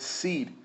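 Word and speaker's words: cede: word is the word seed and yes it sounds like or you can say it like a seed the ones that you plant in the ground yes to make a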